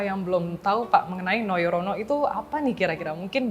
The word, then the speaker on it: Nojorono: sekali itu Kenapa namanya noyorono itu dari mana dan ejaannya masih pakai ejaan lama ya soalnya pakai j nojorono tulisannya Tapi bacanya memang noyorono oke nah itu sebenarnya